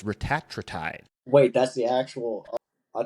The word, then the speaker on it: retatrutide: is actually, side note, now everybody's calling it retatrutide. I guess that's the actual pronunciation of it. It's not retatrutide, it's retatrutide.